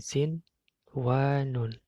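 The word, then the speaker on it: صِنْوَانٌ: Bacanya adalah sin wa nun, contohnya di sini sin wa nun. Nah, perhatikan di situ ada nun sukun bertemu dengan wa. Harusnya kan bihunna, tapi di sini dibaca jelas sin wa nun.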